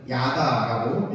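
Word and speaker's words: ידע: 상관하다의 히브리어 원어는 야다라고 읽을 수 있습니다.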